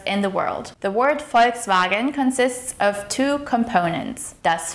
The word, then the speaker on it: Volkswagen: The word Volkswagen consists of two components. Das Volk, which means the people. Here the V is pronounced as an F sound.